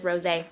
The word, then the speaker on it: Rosé: And then the last one is Rosé, which I said rose at first, but it's got an accent on the E, so I think it is rosé, but it's this color here, which I kind of like it.